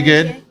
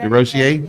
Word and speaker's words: DeRosier: in Texas at our tournament this year, Hannah DeRosier. That pronounced, I did it Yeah, pretty DeRosier. good. DeRosier, Yeah.